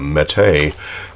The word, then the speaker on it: Mete: And again, Mete is the pronunciation that I can find in the Turkish lexicon for this particular gun.